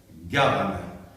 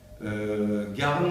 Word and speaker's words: Garn: Je suis Garn. Garn, ça s'écrit G-A-R-N, sans E.